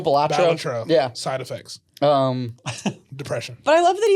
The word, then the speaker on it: Balatro: So I really it's hate that it's pronounced that way. Ballatro. Ballatro. Ballatro. Balatro.